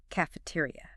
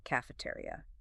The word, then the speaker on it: cafeteria: Cafeteria. Cafe. Tri. Five syllables. Stress the tay. A large dining hall. Say it. Cafeteria.